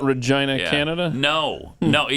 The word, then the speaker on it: Regina: Regina, though. Should be Regina. I mean, Because they rhyme with... Right. Magina.